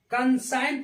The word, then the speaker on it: consign: CONSIGN, कंसाइन पढ़ते हैं, यहाँ भी जी साइलेंट हो गया।